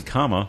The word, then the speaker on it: Kamala: first name right um it's comma like the punctuation yeah like like the song I can't wait for